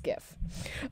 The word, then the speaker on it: GIF: No, I'm not angry about the correct pronunciation of GIF, which is GIF.